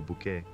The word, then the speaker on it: Bucket: televisão ao interpretar Hentin Bucket, uma mulher de classe média obsecada por estado social. No programa Keeping Up de 1990 a 1995, com sua insistência em pronunciar Bucket como bquet, Hay Cinta é mais do que apenas uma piada.